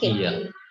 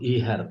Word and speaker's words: ihr: एक तो आप इसमें ना एच जो है इसको साइलेंट रखना होता है, हा साइलेंट रहता है इसमें। तो ये होता है आपका ईयर, नॉट ईहर, ईहर नहीं है, ईयर।